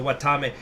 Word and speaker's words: Watame: said that she wanted it's pronounced like watermelon. Okay, so watame, but like she wanted one of those it's cause she's a sheep, that's why she's in Wales.